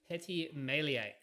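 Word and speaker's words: Petit Meslier: called arban and the final one is called petty melee how do you spell it p e t i t m e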